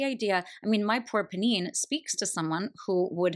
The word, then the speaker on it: Pnin: I listened to an entire podcast where at the beginning, this woman was like, "I know it's supposed to be pronounced Pnin, but in my mind, I always said Pnin, so I'm just going to keep saying Pnin through the whole thing."